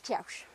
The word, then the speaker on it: Kewish: Now, there's a thing of how do you pronounce Kiaush? Is it Kiaush or is it Kewish? I've been told it's Kiaush.